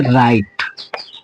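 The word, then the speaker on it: right: यहां भी देखिए आई के बाद जी एस टी है तो इस जी एच को छुपा देना है टी का उच्चारण करना है तो हम इसको पढ़ेंगे राइट ठीक है अब यहां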